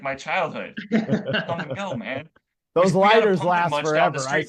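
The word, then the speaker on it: Kum & Go: in uh in Iowa called come and go and it's spelled k m I got a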